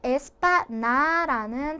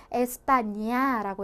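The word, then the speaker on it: España: N의 위에 이렇게 물결 표시가 있어요. 그렇죠? 그래서 니은 소리이긴 니은 소리인데 이 니은 소리를 좀 더 부드럽게 이렇게 물결 파도 치듯이 부드럽게 표현을 해줘. 즉 야니 뉴뉴 소리로 해줘 라고 보시면 되는 거예요. 얘 같은 경우에는 이게 없어요. 그러면 에스파나라는 단어로 소리를 나게 되는데 이 물결 표시가 들어갔기 때문에 에스파니아라고 해주셔야지 이 스페인이라는 정확한 단어로 소리를 가지게 되는 거죠.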